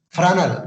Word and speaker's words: Fresnel: This is because of the scientist name Fresnel. This is the Fresnel name. S is silent. Fresnel name.